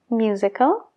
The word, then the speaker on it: music: lo mismo con musical musical musically Cuidado con la s de la palabra music porque es más como una Z que una s music no es music